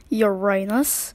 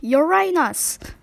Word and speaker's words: Uranus: my name is Uranus it's pronounced Uranus not Uranus anyway I have 28